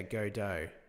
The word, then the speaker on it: Godot: incremental reload mag Mount equals current weapon slot minus plus one only way pronounce gdau is yeah go do yeah I agree bit